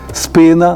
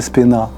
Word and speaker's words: спина: бік це вже Вибачте спина наголосна в першому складі а не спина або живіт а не